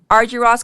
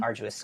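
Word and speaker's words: Argyros: Arjos College of Business and Equities. Ar like aruous like exactly pronounced arduous like difficult arguous.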